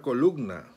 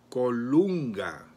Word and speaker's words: Colunga: hermano dice la nácar columna no es columna cómo se pronuncia déjate el doble o bien vamos a corregir aquí la adicción una cara colunga nácar colunga colunga apocalipsis 19 yo juan